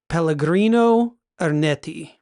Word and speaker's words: Pellegrino Ernetti: yeah, it's involving a priest named let me see if I can pronounce this correctly. It is Pellegrino Ernetti.